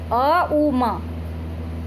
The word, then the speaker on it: ओम: जैसे ओम की ध्वनि का उच्चारण करना है तो श्वास लेते समय ऊ का उच्चारण किया, और श्वास कुंभक के समय म का उच्चारण किया, और छोड़ते समय अ उ म। श्वास लेते समय अ, कुंभक के समय ऊ, छोड़ते समय म।